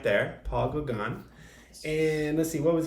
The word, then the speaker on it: Paul Gauguin: do you know his name paul it's pronounced paul gagan but it's spelled he's from france and he lived like 130 years ago uh so that's that's him right there paul gagan and let's see what was he known he